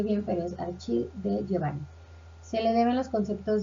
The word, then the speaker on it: Achille De Giovanni: En este caso, Giovanni, bueno, parece que no lo pronuncie bien, pero es Achille de Giovanni.